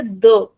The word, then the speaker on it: de: European में हम इसे कहेंगे द और ब्राज़लियन में इसे कहेंगे जी।